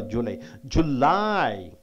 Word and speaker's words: July: July, you have to stress on second syllable for only for July.